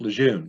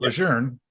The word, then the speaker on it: Lejeune: people in the military think it's camp lejeune oh anybody that reads it i mean there's no r but general john a lejeune pronounced it legerne he's from northern virginia